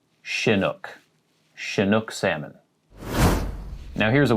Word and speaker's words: chinook: of salmon is chinook salmon chinook so not shinuk chinook chinook salmon now here's a weird one if